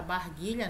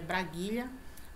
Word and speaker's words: braguilha: eu falei para vocês que muita gente fala barguilha né E é braguilha fechecler né fecha Cléo